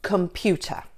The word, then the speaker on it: computer: Let's take the word, for example, computer. Now, which is the stressed syllable? It's pew, isn't it? Computer.